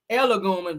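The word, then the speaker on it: Egolum: Alicia Elogum, that's how you say Elogum, or how you say her name, child.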